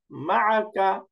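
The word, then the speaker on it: مَعَكَ: এরপরে আরেকটা, যেমন মিম ফাতহা মা, আইন ফাতহা আ, এখন দুইটা মিলাই দেন মা। এবার কাফ ফাতহা কা, মাআকা, মাআকা, মাআকা।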